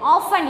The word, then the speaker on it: often: Often. Eppum pathalum. Okay. So, which is silent here? T.